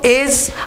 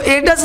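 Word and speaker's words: edge: तो डी देखो एज, अब इसको एडस नहीं बोलेंगे, ठीक है।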